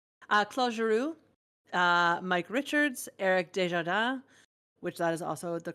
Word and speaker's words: Desjardins: Claude Giroux, Mike Richards, Eric Desjardins, which that is also the correct way to say it.